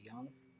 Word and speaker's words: Jung: go look at Carl Young j-u-n-g yeah it is spelled like Jung but it's Young all right that's almost